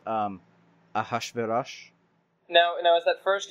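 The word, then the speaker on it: אחשורוש: In Hebrew, it's pronounced Ahashverosh.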